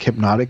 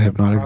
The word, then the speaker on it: Hpnotiq: I used to buy one time like those like hypnotic kind of drinks, liquor.